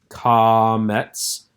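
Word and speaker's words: קמץ: This is comets, using the A sound from father, comets.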